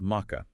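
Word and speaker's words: Maacah: in the northern Levant called Mecca. Okay, let me spell that out. M-A-A-C-A-H, Mecca. Exactly.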